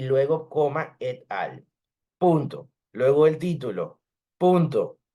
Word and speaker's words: et al: ven que aquí está et al. Y es importante recordar que no se dice et al, eso no es en inglés, ahí le falta una L para que fuera all. Eso es et al, et alteri, significa y